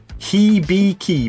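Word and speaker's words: Hibiki: 100 bucks a bottle here he be key basically is the pronunciation okay that's so Random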